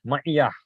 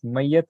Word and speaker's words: ma'iyah: is pronounced as ma'iyatullah, ma'iyah. In Urdu also this word is used. So ma'iyah. So the closeness of Allah or being with Allah. Not mayyat, na'uz billah. So you have to pronounce it properly.